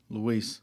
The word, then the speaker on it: Luis: Luis.